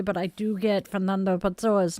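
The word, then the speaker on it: Fernando Pessoa: And no, I am not missing the irony in the fact that I cannot pronounce Peter Matusen's last name correctly, but I do get Fernando Pzoa's name correct.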